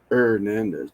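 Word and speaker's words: Hernandez: buddy David ernandez ernandez ernandez the H is silent ernandez hman that's what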